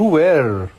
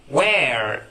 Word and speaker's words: were: You were. You were. اوكي. النطق الصحيح were. Were. ردد معايا. Were. Were. ممتاز. where.